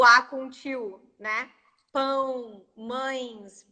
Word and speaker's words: mães: Oh, because of the nasal sound, for sure. They're definitely the most difficult words for me to pronounce. Definitely. Yeah, but I think actually I know why, because N in Portuguese, most of our N's, they go to our nose.